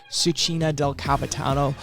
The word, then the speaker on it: Cucina del Capitano: It took me a couple times to pronounce the name correctly. Cucina del Capitano.